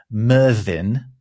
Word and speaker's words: Myrddin: Merlinus is actually his interpretation of the Welsh name Merddin. Merddin was a famous bard, a Welsh poet. Does that have any relation to names like Mervyn and Marvin? Well, that's a good question, actually. So it's spelled Myrddin. Of course it is. Terribly Welsh.